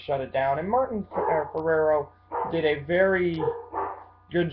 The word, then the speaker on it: Ferrero: have uh Martin yeah I always say the name wrong I say Martin phell but it's Martin f o Martin Ferrero who plays uh Donald